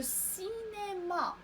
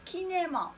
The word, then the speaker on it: cinéma: لو سينما، لو سينما. فهنا سي تنطق س حيت متبوعة ب إي. لو سي سينما، لو سينما. ما قلناش كينما وما قلناش لا غلاك، إنما لا غلاس و لو سينما.